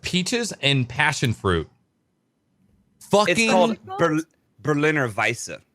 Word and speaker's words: Berliner Weisse: and passionfruit funky old Berliner Weisse a Berliner w in the W is pronounced with a V that's right yes okay same thing okay so Berliner Weisse a-- by say if